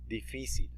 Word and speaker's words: difícil: Difícil. Notice that this syllable right here, the second syllable, has a really tiny accent on it. It's because you're going to put emphasis on this syllable.